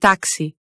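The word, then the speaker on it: táxi: But in other spots, it can be sh, s, or x. As in xilofone, máximo, and taxi.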